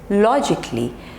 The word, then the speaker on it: logically: romantically romantically okay now next is logically so here we have three labels la jiggly logically logically practice with me logically okay next is